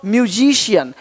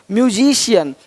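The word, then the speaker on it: musician: अब देखो, यदि सी के आगे आई ए हो तो सी का उच्चारण श होता है।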